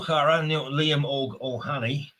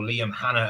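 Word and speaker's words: Liam Óg Ó hAnnaidh: So anyway, with that, Moar Liam Og Ohani or Liam Hannah as the Brits call him because they can't pronounce Irish names and they have no interest in the Irish language.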